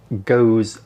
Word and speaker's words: Gose: the history behind some of these beers now goza and yeah it's pronounced goes uh is a german beer style made up